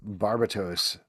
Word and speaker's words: Barbatos: a little bit smarter you want to pronounce it to be fair I thought you were going to say Barbados or something like that barbatos is actually how you pronounce it all right lovesick number